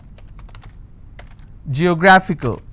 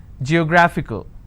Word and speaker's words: geographical: the first one okay i c a l geographical how many syllables do I have G yo graph IC now this figure is coming up to two syllables right but this will still be combined as word ending and this is the stress geographical p h y my favorite